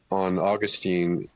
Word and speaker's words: Augustine: I think some commentary on Augustine is probably necessary here too, and kudos, Brian, for using the classical Latin pronunciation of Augustine.